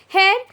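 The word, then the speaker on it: heir: so this chapter is all about the last hair hair it's not about your hair it's hair look at the pronunciation which i am using for you people to understand don't get confused hair a person who is entitled by law or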